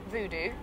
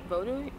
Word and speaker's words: Vodou: all i've learned that it's not voodoo it's vodu is that correct yes